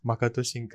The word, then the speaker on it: Makoto Shinkai: Makoto Shinkai. I just want to point pronounced out.